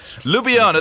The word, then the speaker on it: Ljubljana: for the closest thing i could okay ljubljana lubiana there you go thank you very much you know me in a pronunciation that's not my favorite thing uh finally